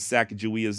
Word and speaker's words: Sacagawea: original journals and supposedly both men claimed that saak jia's name was pronounced with a J not a g with all that in